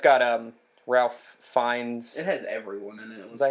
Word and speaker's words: Ralph: No, but yeah, and it's got Ralph Fiennes. It has everyone in it. Is that how you say his name? I've heard it like Rafe Fiennes.